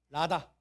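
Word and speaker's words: רָדָה: 다스리다가 라다. 다 같이 라다. 그냥 라가 아니고 그냥 영어의 무슨 발음? L 발음이 아니라고. 그러니까 라다. 라다.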